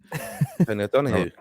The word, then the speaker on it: Tony O'Donoghue: Tony O'Donoghue.